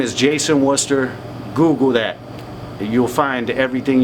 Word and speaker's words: Worcester: My name is Jason Worcester. Google that. You'll find everything you need to know, man. Spell it. Uh w O R C E S T E R like Worcester, Massachusetts. Right.